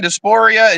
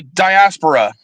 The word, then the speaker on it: diaspora: advisory Council on African dispor engagement in the United States African Doria what is that I'm sorry diaspora my I I mispronounced it diaspora oh okay I'm like